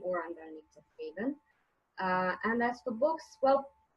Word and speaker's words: Haven: As far as my blog, it's called Anita's Haven, and many people mispronounce and they think it's heaven. It's not haven, because it's sort of my refuge.